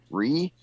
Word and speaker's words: Righ: I'm known online as Ree, which is spelled exactly as it sounds, R-I-G-H, Ree.